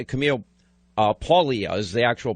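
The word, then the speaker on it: Paglia: introducing me to uh I've always said Camille pagle it's Camille uh paulia is the actual pronunciation of this and her life her background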